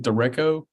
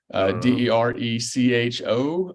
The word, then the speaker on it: derecho: Is that how you pronounce it? Derecho. Derecho.